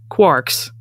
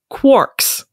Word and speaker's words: quarks: it should be pronounced quarks rhyming with parks, but it is in fact pronounced quarks, rhyming with pork.